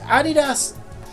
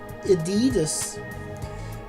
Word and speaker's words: Adidas: Although in America, I believe you pronounce it Adidas. Yeah. See, where I'm from, we all we always pronounce it Adidas. Um, but Adidas probably does sound better. Um, but with actually with it being German, it probably it probably more likely is Adidas cuz they have a very abrupt Adidas.